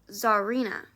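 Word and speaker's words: Czarina: name is from russia c-z-a-r-i-n-a which you have to pronounce zarina oh so i don't know why you would bother with the c but that's english for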